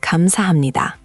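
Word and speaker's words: 감사합니다: Kamsahamnida. Thank you. Okay, I've heard that one before. Let's make sure you've got the pronunciation down. It's kam-sa-ham-ni-da. Four syllables with emphasis on sa and ni.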